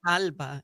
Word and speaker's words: Grijalba: Grijalba is how it should be pronounced.